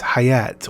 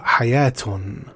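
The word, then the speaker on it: حياة: Ironically, the word for life is hayat or hayatun with a silent T in Arabic.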